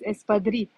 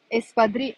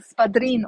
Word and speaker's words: espadrilles: Probably pronounce it wrong, spadrine or something like that.